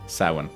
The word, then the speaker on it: Samhain: However, like a lot of Irish words, it is not spelled like it's said.